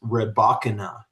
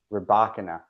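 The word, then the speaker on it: Rybakina: And according to my research, Elena's last name, we are both incorrect, is Rebachana. Rebakana. Rebakana. So that that is the most common pronunciation that I have come across.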